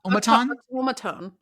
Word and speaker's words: automaton: keep getting it wrong it's not an omaron omat automatone automatone automaton I why is there an r in there I don't know there isn't one it's automatone automatone okay and now